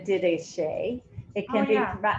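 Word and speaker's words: Didache: we have a document i have always pronounced it the dideshay it can be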